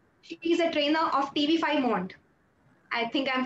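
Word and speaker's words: TV5 Monde: And yes, the pronunciation is Teve Saint Mond, but we'll talk about that another time.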